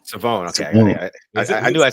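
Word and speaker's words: Shavon: It's Savone. Yeah, that's crazy. He said uh even like like the people mispronounced it like his entire time at Eastern East Carolina until like this last season.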